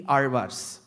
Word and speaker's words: Alvar: attempt is only the Alvars. Even before I get into the word Alvar, the word Alvar itself is a task. Because you will have to get the pronunciation of the letter La right.